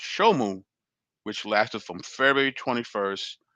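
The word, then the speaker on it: Shemu: from October 21st to February 21st, and summer, pronounced Shomu, which lasted from February 21st to June 21st.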